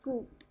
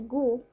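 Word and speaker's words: 固: So the whole character here, the example character here, is pronounced as gu.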